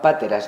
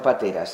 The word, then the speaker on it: páteras: Estos vasos, estos cuencos que se llamaban páteras, no pateras. Esto eran páteras, con acento en la pa.